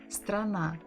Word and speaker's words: страна: С, Т, Р, А, Н, А. Страна. Only two syllables. Страна, страна.